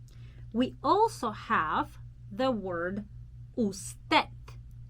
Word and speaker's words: usted: also have the word usted usted okay so first of all i want to show you that i do not pronounce d in the end i'm not saying usted but it's very soft